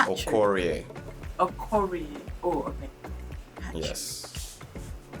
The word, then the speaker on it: Okorie: So the next one, Patrick Okorie. Okoye is P square, right? You said no, it's Okorie.